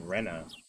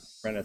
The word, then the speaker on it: Rena: it that way hmm Plum was telling me that you literally pronounce it Rena oh I think I know okay Plum told me there's some significance into how Rena spells her name it's not supposed to be Raina it's Rena yeah I think this